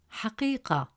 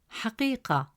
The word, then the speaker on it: حقيقة: As a result, the correct pronunciation of the word is كبير, كبير. Third example, the word حقيقة. In the word حقيقة, meaning truth, the letter قاف has a kasra